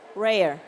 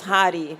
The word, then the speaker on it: Rare: How how do I pronounce it correctly? Rare. Rare. Wonderful. Okay. In in Brazil is hardi, but it's fine.